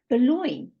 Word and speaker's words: Boulogne: here and I'm so thrilled that you pronounced my name correctly I was a bit worried then correctly but I know it's those French words that end in g and e that do it to you every time I was looking